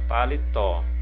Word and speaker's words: paletó: Olha, na letra N nós temos a palavrinha paletó. Paletó, paletó. Então a última sílaba é a sílaba tônica, é o tó, ok?